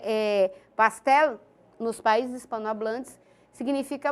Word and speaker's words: pastel: tá pastel por exemplo escreve pastel pronuncia pastel só que em português a gente pronuncia pastel né o com som de u eh em espanhol a gente puxa um pouquinho o l né pastel Mas significa bolo não